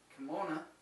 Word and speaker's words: kimono: is a quote unquote kimono or as they used to pronounce it kimona we're losing a button